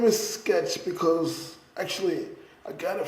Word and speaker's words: Xketcz: It looks like it says Xketcz. Because the way I was thinking about it, it's like okay, you get the X and the K to make the sk sound, right?